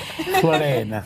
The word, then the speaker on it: Floanne: I just love her name, Floanne.